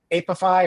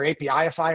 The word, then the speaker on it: Apify: your fingers in it, Apify or APIify, however you want to pronounce it, is another tool I'll